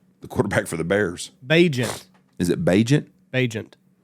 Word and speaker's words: Bagent: Who's Pageant? The quarterback for the Bears. Bajent. Is it Bajent? Bajent. How do you spell it?